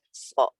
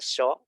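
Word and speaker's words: ص: Nah, kalau saran saya untuk di huruf shad ini cukup sampaikan bahwa shad ini bukan huruf sin, jadi pengucapannya bukan sho, tapi sama kayak huruf sin biasa, jadi so gitu.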